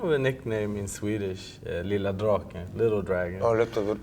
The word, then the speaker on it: Lilla Draken: Yeah, it was kind of a nickname in Swedish, Lilla Draken, Little Dragon. Oh, how you say it? Lilla Draken.